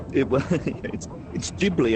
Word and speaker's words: Ghibli: It's Ghibli and it's Isha.